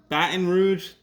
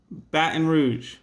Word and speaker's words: Baton Rouge: The capital is Baton or Baton, Baton Rouge, depending on where you're from. Depends on how you say it. Baton Rouge.